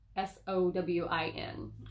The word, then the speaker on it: Samhain: Now, you'll see this spelled out, and it looks like it's Samhain, Samhain, but it is pronounced Samhain, Sowin, or some variances of that.